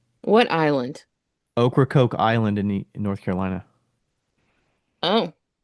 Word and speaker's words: Ocracoke: going to the island, which is Ocracoke is the right way to say it. What island? Ocracoke Island in North Carolina.